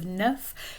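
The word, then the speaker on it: neuf: could say caesar never notice the pronunciation of the f at the end of nerf never it becomes like a v sound um deezer the x at the end of this becomes 4 11.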